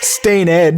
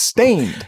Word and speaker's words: Staind: You don't pronounce the E is my point. It's not Stained, it's Stained.